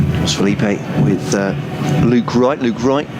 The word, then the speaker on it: Philippe: Thank you very much to Jake, who said it's Josh Philippi is the correct Josh Philippi is the correct pronunciation of his name. So not Philippe, but Philippi.